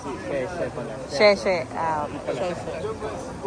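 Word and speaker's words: Xiamen: Ah Sheng Putong ala ko Shengutang talaga si pasensya na po at syempre hindi namin alam halos lahat ng ano pronunciation. Sheshe pala.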